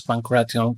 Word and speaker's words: pankration: That's why it's important to pronounce Pankration correctly, as it makes it much easier to